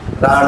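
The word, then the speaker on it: রাঢ়: হলো এবং রাও আসি রা রাার হয় প্রাচীন রাার রাারটা কিন্তু হচ্ছে জিবাটাকে উল্টা করে উচ্চারণটা করতে হবে কেন বলেন তো দেখি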